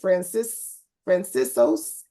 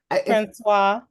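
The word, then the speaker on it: François: I know I am, but is it Francisos? Francois. Francois. Geez, I was nowhere close.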